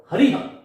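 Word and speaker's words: हरिः: अतः अस्य विसर्गस्य उच्चारणम कथम कर्तव्यम, विसर्ग का उच्चारण हमें कैसे करना चाहिए, इसके लिए मैं आपको बता रहा हूं कि रामः हरिहि गुरुहु।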